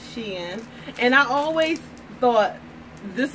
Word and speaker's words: Shein: Some people pronounce it differently, but I'm sure it's she in.